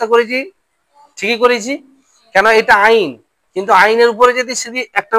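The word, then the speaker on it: ع: ভালো করে চিনে নাও আইন গলার ভিতর থেকে উচ্চারণ হয় কোথা থেকে মনে থাকবে তো আলিফ হামজা আইন তাহলে পার্থক্য আছে না নেইঝ বুঝতে পারছ?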